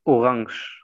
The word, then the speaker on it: Orange: Aquí decimos orange. Orange. Sí. Si será la naranja, decimos orange. Orangia.